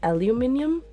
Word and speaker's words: aluminum: Beth this is important how do you say Okay aluminum I say aluminum I know that's the other way is aluminium the thing is I think I interchange it I think I I'm